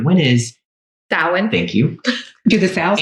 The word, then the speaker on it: Samhain: Like recently, can someone pronounce what Halloween is called with S? Samhain. Samhain? Samhain.